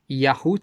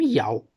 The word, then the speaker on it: YHWH: Então, você tem uma base muito forte bíblica para dizer que a pronúncia correta do nome de Deus é Yahu, né? Não Yau, não Yau.